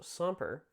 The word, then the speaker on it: semper: So semper, which is how you pronounce that word, is meaning, always means always, go figure.